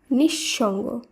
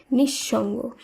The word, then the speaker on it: নিঃসঙ্গ: শব্দটি শুদ্ধ উচ্চারণ হবে নিঃসঙ্গ নিহ শব্দ নয় শুদ্ধ উচ্চারণ হবে নিঃসঙ্গ কারণ বিসর্গের পরের এখানে তালবস রয়েছে তালবস এর দুবার উচ্চারণ হবে এই সূত্রেই প্রাতহকাল নয়